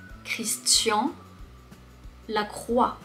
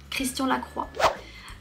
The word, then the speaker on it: Christian Lacroix: Et le nom de famille, Lacroix, on ne prononce pas le X. Je le mets en rouge. Christian Lacroix. Christian Lacroix.